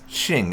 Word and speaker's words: Qing: with the exception of Qing Empire being pronounced as Ching Empire those of you who've